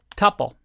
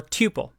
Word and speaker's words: tuple: And this one is called a tuple or tuple, depending on how you like to pronounce it.